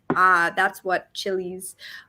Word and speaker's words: Tjili: So that's what Chili's artwork is about. So do check it out, guys. Chili is spelled Tjili.